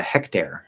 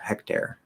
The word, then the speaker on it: hectare: um anyway for hectare would you say hectare or would you pronounce it like the name hector neither and i can't wait for the lazy alice and so much crazy to look forward to exactly yeah yeah hectare it's air hectare hectare um a hectare